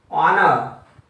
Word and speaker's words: honor: This is honor. This is also a vowel sound.